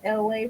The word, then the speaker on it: ELAY: My name is LA. Pronounced like LA, like the city.